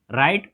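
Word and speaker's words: write: लिखना का क्या होता है, राइट, डब्ल्यू आर आई टी, W silent होता है, राइट, और प्लस आई एन जी होता है, राइटिंग, डब्ल्यू आर आई टी टी आई एन जी।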